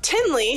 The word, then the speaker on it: Tinley: next up we have Tinley who rhymes with Kinley in the last video